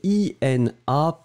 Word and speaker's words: inapte: Le premier, inapte, d'accord, et le deuxième, inepte. Inapte, inepte. Et voilà, donc là c'était bien, il n'y avait pas de, problème.